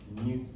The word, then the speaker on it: nu: De hecho, por ejemplo, frecuencia, la frecuencia solemos representarla con la letra nu griega. Ni, el ni se pronuncia algo así.